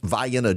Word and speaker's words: Vienna: Uh in South Georgia, for those of you not listening in Georgia, there is a Vienna, Georgia, but it is pronounced Vianna, Georgia.